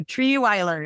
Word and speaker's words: Trierweiler: It is not said how it's spelled. So Treeiler is how you say her name.